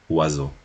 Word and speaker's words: oiseau: Es suficiente, por ejemplo, y aquí nos dan, ¿no?, 4 signos fonéticos, oiseau, para transcribir las 6 letras de la palabra oiseau.